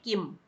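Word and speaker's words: किम्: दोनों सेम है, दोनों में कोई डिफरेंस नहीं है, दोनों में कोई अंतर नहीं है, दोनों को हम सेम प्रोनाउंस करेंगे किम।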